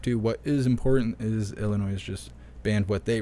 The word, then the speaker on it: Illinois: along with rapid-fire devices Illinois is the I I don't think you're supposed to pronounce the S but I'm from Michigan so I do what I want they are the ninth